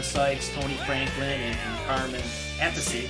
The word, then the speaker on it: Appice: Tony Franklin, and Carmen Appice. That's the right way to say it. It's not a piece. I used to think it was a piece. It's Appice. And just a really killer album, man.